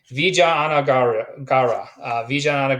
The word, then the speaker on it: Vijayanagara: i wrote it down so that i can pronounce this correctly vijayanagara empire this is an empire that uh is